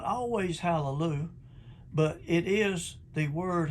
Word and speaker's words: hallelujah: praise is hallelu hallelujah hallelujah yh pronounced ya hallelujah in these 44 places that's what it is look them up for yourselves the hebrew word for praise is not always hallelujah but it is the